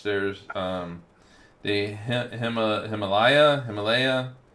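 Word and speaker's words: Himalia: Himalaya. It's not like the mountains. It's not spelled like mountains but Himalaya we'll say.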